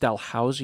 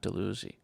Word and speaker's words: Dalhousie: reference to episode 55 it's pronounced Dalhousie University not deluzy who said deluzy I